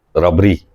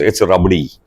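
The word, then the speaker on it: रबड़ी: Is it rabri or rabdi? So only you can tell our audience what the actual pronunciation is. Yes, that's what I thought. It's rabdi. Yes.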